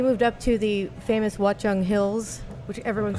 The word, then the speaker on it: Watchung: up to the famous Watchung Hills which everyone's like what are the hill in New Jersey exactly what's it called Watchung what's wrong how do you spell that watc a CH ung watch on what a great name